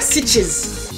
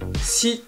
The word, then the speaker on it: Sitges: ça parce que c'est S-I-T-G-E-S. Ben, si on le prononce de façon espagnole, on dirait Sitges. Mais bon, je vais la faire en mode anglophone.